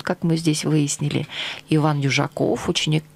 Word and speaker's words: Дюжаков: Иван Южаков, ученик 9 Б-класса гимназии номер 1 в городе Кирово-Чепецка.